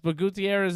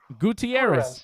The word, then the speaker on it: Gutierrez: Gutierrez. Exactly. It's not Gutierrez. No. Gutierrez? Listen, You pronounce Gutierrez? Gutierrez? Well, yeah, exactly. That's the way Gutierrez. you say it. It's about time you say it right, Dave.